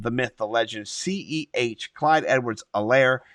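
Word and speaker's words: Clyde Edwards-Helaire: myth the legend c-e-h clyde edwards elaire the h is silent if you didn't know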